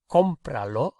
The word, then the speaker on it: cómpralo: And you can see that we've had to add an accent to the first syllable so that we can keep that same sound structure.